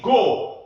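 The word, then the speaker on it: 五: En japonais, 5 c'est go. Comme quand tu dis 3, 2, 1, go. C'est pareil, c'est la même façon de prononcer.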